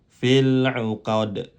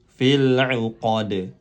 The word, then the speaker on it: fil uqad: Sekali lagi diulang, fil uqad. Baik, karena di sini huruf terakhir yang disukunkan karena kita berhenti atau waqaf bukan mad, maka cara membacanya pendek. Sekali lagi kita ulang, fil uqad.